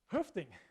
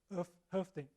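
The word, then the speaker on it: Hoeffding: OE here, I just pronounce it in the kind of the Canadian-French Hoefding, right? But it's actually Finnish. Dr. Hoefding is from Finland, or at least his ethnicity originally was Finnish.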